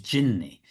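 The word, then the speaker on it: جني: But genie is actually a mispronounced. It's like an anglicized pronunciation of an Arabic word, which is jinni.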